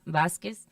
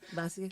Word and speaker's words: Vasquez: Or it's really nice to be like Vas with a B on it. Vasquez. Vasquez. Q-U-E-Z is almost like a kiss sound. Like a Vasquez. K sound almost.